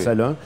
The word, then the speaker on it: Salin: C'est bien Salin qu'on prononce, Salin.